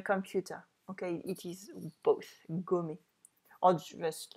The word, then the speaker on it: gomme: Okay, it is both, gommer, or just like forget about something. I'm checking my notes, so we're good. Je fabrique des gommes. And it is exactly the same pronunciation as homme.